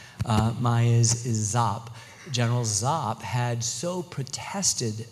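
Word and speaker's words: Giáp: these forces and the Marines were going to get overwhelmed and it was going to be horrible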